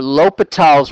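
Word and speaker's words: L'Hôpital: it as two though it says uh for lal's rule that's how you pronounce it again use the right pronunciation for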